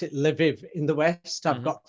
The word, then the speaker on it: Lviv: I've got friends in, I pronounce it Lviv in the west.